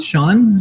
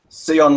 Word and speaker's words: Seon: I want to say Seon, but it might Sean. Yeah, it might be a couple different pronunciations. Hi, everyone. No, Seon was correct.